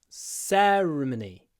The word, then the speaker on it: ceremony: last week s uh to Mark the stress on the first syllable s Cy ceremony ceremony ceremony s long